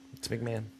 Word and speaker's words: McMahon: Is it McMahon? It's McMahon. Okay. McMahon, everybody. I've been saying that wrong.